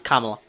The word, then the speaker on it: Kamala: So, there's some questioning on the pronunciation of Kamla. It's like comma. Uh, that's Mark, my uncle. Yep. It's Kamla. And you're welcome.